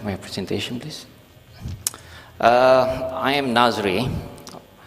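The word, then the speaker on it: Nazre: I am Nazri. The spelling is quite bizarre because I spell N-A-Z-R-E, but the pronunciation will be Nazri.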